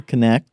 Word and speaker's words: Knecht: I'm really excited today because I'm joined by Roger Knecht, who is the president of Universal Accounting Center.